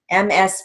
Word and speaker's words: Ms.: The good news is most of the time when people say Ms., MS period, you can really hear the Z, Ms.